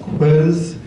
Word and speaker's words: Koos: Lynette Stassen's husband is Koos, K-O-O-S. It's pronounced Quiz.